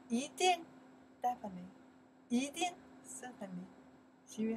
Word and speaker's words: 一定: You can say 一, you can say 一, in that case pronounce second tone, 一定.